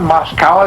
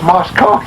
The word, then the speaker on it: Moscow: I said, don't you know how to pronounce that word? That's not Moscow, it's Moscow. I began to kind of rib him some.